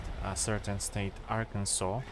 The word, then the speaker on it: Arkansas: I just lately learned that you should pronounce a certain state Arkansas, not Arkansas.